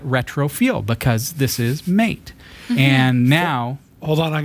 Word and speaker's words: MATE: be M at all sorry it's mate cuz it rhymes with a M A I think it's mate because it's kind of a melding of the two versions they have mated that's right it's mate